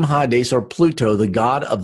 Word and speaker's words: Hades: GE Strong's G 86 ha days ha days Thayer's lexicon hi days hi days a lot of people pronounce it Hades but it's not it's ha days ok name ha days are Pluto the god